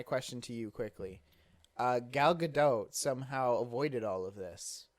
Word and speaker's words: Gadot: it's good dog hmm it's not French okay cuz it's good oh I assure you as married to a Jewish woman it's gadot I don't believe you